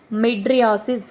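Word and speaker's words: mydriasis: none of the above pupils of the eye becoming fixed pronounced as madriasis here option A is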